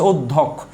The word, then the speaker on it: অধ্যক্ষ: কোনো কার নেই মানে হচ্ছে ও আছে, আপনি একটা ও দিয়ে দিলেন, মানে আমরা উচ্চারণ ও এর মতো করি তাই আমরা দিলাম। এ হচ্ছে অধ্যক্ষ। এবার আসেন এখানে একটা হসন্ত হবে।